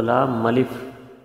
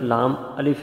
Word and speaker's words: لام الف: کیا جائے تو وہ لام ملف کی آواز بن جاتی ہے، حالانکہ یہ حرف لام الف ہے، ملف کوئی حرف نہیں ہے۔ تو یہ ایک بڑی